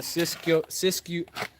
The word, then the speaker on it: Siskiyou: trid ZZ, and then the Siskiyou N9. I think Yeah. that's how it's pronounced. Siskiyou.